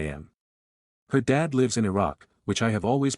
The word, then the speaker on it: Iraq: I said, you said your dad lives in Iraq.